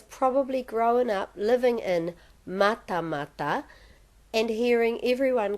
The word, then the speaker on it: Matamata: because she has probably grown up living in mata mata and hearing everyone call it matamata or maramata